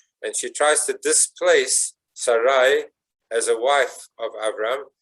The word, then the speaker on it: Sarai: Not only is Avram's name changed, but Sarai, which is spelled Sin, Resh, Yud, pronounced Sarai, is now changed and transformed into Sarah, with